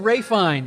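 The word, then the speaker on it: Ralph Fiennes: with ralph finance phoenix you went with ray fine fine it is spelled well i totally get you that it's wraith because he's hoity toity got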